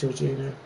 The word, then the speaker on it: Jorginho: I think that's how you pronounce it. Yeah, it's Jorginho.